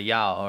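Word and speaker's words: 幺: You know, one is actually pronounced not... In Chinese, it's E, but if you want to say like one thing, you say Yao, right?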